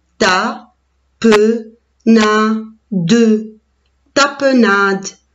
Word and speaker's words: tapenade: as peu nom de tapenade la lettre e à la fin je ne prononce pas tu es les miettes